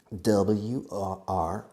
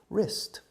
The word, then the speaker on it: wrist: W-R-I-S-T, wrist. I have two wrists. The W is silent, wrist.